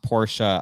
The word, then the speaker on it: Porsche: Tyler said it's pronounced Porsche.